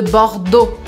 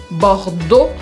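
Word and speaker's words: Bordeaux: cidade la V de bordeau bordeau aqui é para você lembrar bem que quando a gente junta várias letras em francês o som Muda então eu nunca falo bordea eu falo bordo bordo porque e a u som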